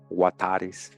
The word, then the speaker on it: Huetar: You see that pronounced as Wa, Huatares, Watery, Wata, and Western Huatares, Wata, Huatar, Huatar.